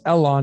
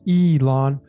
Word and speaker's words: Elon: So I know a lot of people say it's L, but we don't say it's Elon, it's Elon.